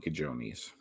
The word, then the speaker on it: cojones: If you saw that written down, you would mispronounce it if you didn't know the J sounds like an H.